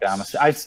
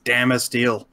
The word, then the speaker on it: Damasteel: It's Damasteel. I don't know. Maybe it would be better in person. It's a Swedish product. They definitely don't do a short A sound.